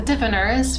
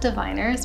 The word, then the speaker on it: The Diviners: it's the the diviners which i have been calling the difference for a very long time but kathy was nice enough to tell me that i was saying it wrong and it's the diviners which makes sense but